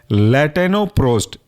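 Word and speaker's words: Latanoprost: अगला एग्जाम्पल है आपका लैटेनोप्रोस्ट। स्पेलिंग है लैटेनो LATANO, प्रोस्ट PROST, लैटेनोप्रोस्ट।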